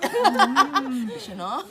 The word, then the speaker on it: Duchenaud: Is that how you pronounce it? Duchenaud.